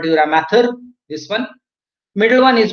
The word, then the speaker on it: dura mater: Outermost protective covering, this one I'm talking about, is called a dura mater. Spelling mistake is here. It should be M-A-T-E-R. Actually, we pronounce matter, M-A-T-H-E-R, but it is matter, remember.